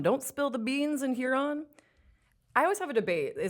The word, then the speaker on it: Huron: We've been finding the perfect summer stops all across the state, from Don't Spill the Beans in Huron. I always have a debate. Do you say Huron or Huron?